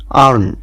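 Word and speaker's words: earn: উদাহরণ ই এই আর এন আর্ন। দেখুন এখানে আমরা ই এ কে পাচ্ছি এবং তার সাউন্ড হচ্ছে আ। ই এ আ আরতে র এনতে ন, তাহলে উচ্চারণটা দাঁড়ালো আর্ন, যার বাংলা অর্থ হচ্ছে উপার্জন করা।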